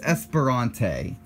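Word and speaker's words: Esperante: s ferrante GTR one I used to have so much trouble pronouncing this one but after watching a race years ago I heard how to actually pronounce it it's Esperanto so don't let that trip you up no more guys the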